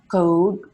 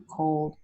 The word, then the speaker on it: cold: You have to relax your lips more. Dark L is relaxed lips. And so you have not code. You can't see my teeth at all. Code, Yeah. This is a different word with a different meaning. I'm saying cold, cold, oh. You can see my teeth a little bit. My lips look more relaxed.